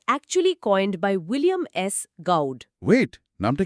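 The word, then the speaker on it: Gaud: Trick trick মাথায় এলো এই গডের উচ্চারণটা অনেকটা গড বা ভগবানের মত তাই না?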